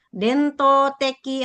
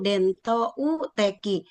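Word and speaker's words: 伝統的: ya kalau ini ee banyak yang benar hanya suka ketinggalan u dento teki harusnya ada u dento u teki u-nya ketinggalan mungkin karena terlalu banyak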